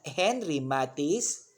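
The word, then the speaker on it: Henri Matisse: window by henry matisse take note of the pronunciation it is henry matisse if you're going to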